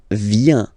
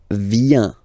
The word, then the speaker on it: viens: So the first form is je viens. Je viens. Okay? Remember this I, vient, vient, and then this nasal. Final S not pronounced.